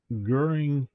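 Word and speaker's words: Göring: We currently have Herman Goering as corrupt, corrupt kleptocrat. That pronounced correctly.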